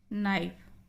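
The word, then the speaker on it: knife: नाइफ, के silent.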